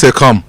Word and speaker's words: calm: So half the L is silent. Say calm.